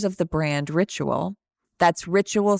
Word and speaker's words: Rituil: That's Rituil spelled Rituil. And we'll talk about why it's spelled that way in the episode.